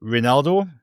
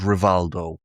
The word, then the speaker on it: Reinildo: He's not called Rivaldo. We do not have Rivaldo playing for us. So please stop shouting Rivaldo at him.